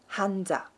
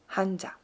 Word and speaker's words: hanja: Mas, então, kanji seria no japonês, kanji, e no coreano, hanja, hanja.